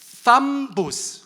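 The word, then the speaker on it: θάμβος: 자, 탐보스 한번 해보시겠어요? TH 발음이라 혀를 깨물으셔야 돼요.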